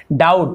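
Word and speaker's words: doubt: वैसे यहाँ पे डाउट, तो यहाँ पे डाउट ऐसे नहीं पढ़ेंगे, बी साइलेंट होता है तो बी को हम नहीं पढ़ेंगे, केवल डाउट, बी साइलेंट है।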